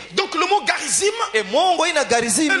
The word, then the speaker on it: Garizim: le mot Garizim.